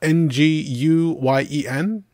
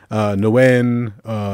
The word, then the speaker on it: Nguyen: Nguyen, Nagoon, just whatever pronunciations, but you have to be very careful because, like, my phone, it's slightly racist. But the only thing I know is the G is silent.